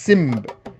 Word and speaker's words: Zimba: On this video, we showcased a small-scale Zimba Lion masquerade dance set recorded during the pandemic adhering to COVID-19 measures. The origins of the Zimba, or pronounced Simb in other areas, can be traced back